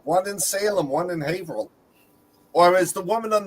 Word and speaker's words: Haverhill: No, that was the two enterprises right near me, one in Salem, one in Haverhill. Or as the woman on the phone who was not from Massachusetts pronounced it, Haverhill.